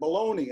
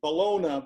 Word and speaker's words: bologna: I pronounce that baloney. I don't pronounce it Bologna, but I want this story to be true.